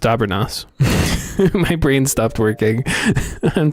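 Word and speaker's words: Dobranoc: Good night in Polish is pronounced Dabernas.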